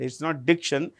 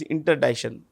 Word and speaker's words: interdiction: This um C more or less is silent. It's not diction. It's interdiction. You can say interdiction. No problem. Yeah. Hardly. It hardly makes a difference.